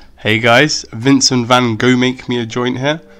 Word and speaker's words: Vincent van Gogh: me a joint here obviously his name's pronounced vincent van gaal ah you know if you want to be correct i know the puritans are gonna make sure i say it correctly but we have part